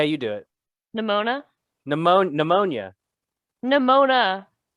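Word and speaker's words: Nemona: do it nimona pneumonia nimona not pneumonia not the illness it looks like pneumonia it does um yeah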